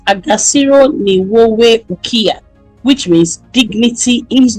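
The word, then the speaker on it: Agaciro: He then said there's a saying we have in Rwanda called Agassiro. I hope I'm pronouncing that well. A G A C I R O. It means dignity. And like Kagami always says, Agassiro, which means dignity is not given, it is taken.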